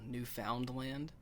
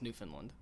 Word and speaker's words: Newfoundland: I lived up in Canada for a while, and there was a place called Newfoundland, but they never called it that. It was Newfoundland.